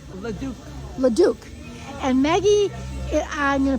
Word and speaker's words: LeDuc: LeDuc.